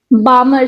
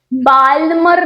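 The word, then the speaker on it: Balmer: बामर series. बालमर नहीं है। ये बामर है। बाल्मर एल साइलेंट है।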